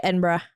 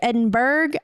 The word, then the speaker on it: Edinburgh: You're supposed to say Edinburgh. Edinburgh. Let me tell you a story real quick about that. So we have an Edinburgh in Texas. And it's spelt the same way, but with no H at the end.